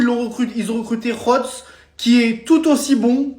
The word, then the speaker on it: Godts: C'est officiel Mika Hots parce qu'on prononce pas God mais hots signe au PSG les gars.